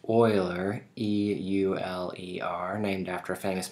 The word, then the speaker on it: Euler: be talking about eulerian graphs so that is pronounced euler e-u-l-e-r named after a famous mathematician leonard euler